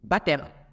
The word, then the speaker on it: baptême: va pas dit B on dit baptême tout simplement baptême parce que tout simplement